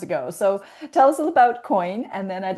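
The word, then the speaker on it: quoin: Um, yeah, the subtitle is unhurried elevated selling using the coin principle. Coin is spelled qu u o i n.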